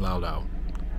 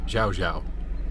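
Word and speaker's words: Llao Llao: I realize I've been pronouncing it wrong. I've been saying loud, but it's Xiao Xiao.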